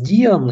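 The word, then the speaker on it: Dehaene: Здесь есть ряд дальнейших надстроек, вот, допустим, Станислав Диан или Дихаен, его, как кажется, правильнее нужно произносить, он дорабатывает теорию глобального рабочего пространства, он утверждает, что сознательные ресурсы тратятся на выполнение нетривиальных задач.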